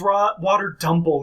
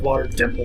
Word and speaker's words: Water Dumple: Also, you pronounced the name of an enemy wrong last time. It's Water Dumple instead of Water Dimple.